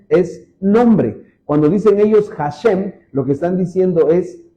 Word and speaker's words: Hashem: palabra la j, la H en el hebreo suena como suena como J. Por eso los judíos, por ejemplo, cuando dicen el nombre de Dios o cuando hablan de Dios, ellos dicen Hashem. La se escribe h A s h e m y es hashem.